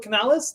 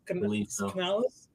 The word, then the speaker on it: Canales: offensively driven head coach with um shereé with Canales that's that's how he pronounced his name Dave uh Canales but yeah I I think this is could